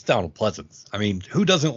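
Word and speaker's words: Pleasence: when we see on the screen were Donald Pleasance, I think I pronounced that correctly. Pleasance, yes.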